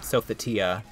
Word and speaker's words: Sophitia: I say Sophidia. Sophie, and so many other. Generally, I do pronounce it Sophidia. But, I just generally just say it so many different ways now because I hear people saying it different ways. I mean, personally, like, I mean, just Sophie is the most common, I would say, but Sophitia, I like the pronunciation so much more from Soul Edge.